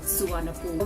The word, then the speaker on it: Suvarnabhumi: That is how I learned that Suvarnabhumi, or the airport in Bangkok, is actually pronounced as Suvarnabhumi.